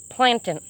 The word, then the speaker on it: plantain: plantain like the banana looking thing but it's pronounced plantain ask anybody from west virginia and they will